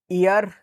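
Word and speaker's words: heir: तो इसको पढ़ते हैं ये ईयर पढ़ते हैं। ई से आप पढ़ोगे और इसमें एच हो जाता है साइलेंट। ठीक है? तो ये ईयर पढ़ा जाता है। तो यह आप पढ़ना सीखो। जिस तरह ऑनेस्टी में एच साइलेंट हो जाएगा। वैसे ही ईयर में एच साइलेंट हो जाता है।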